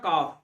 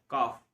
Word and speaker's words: calf: काउ का young one होता है काफ, बछड़ा, CALF, काफ, L साइलेंट होता है।